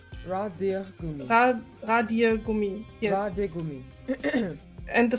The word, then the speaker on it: Radiergummi: Ratiergummi. You can the DIER you can Deer. speak like deer, like the animal deer. Radiergummi.